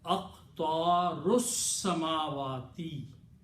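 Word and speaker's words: أقطار السماوات: And if we don't pronounce, we put a little swad on it. Hamzatul wasl. And the pronunciation will be aqtarus samawati. Okay, you have to pronounce samawati. Here is aqtarus samawati, because lam was not pronounced to begin with. So seen has to be pronounced with this ra.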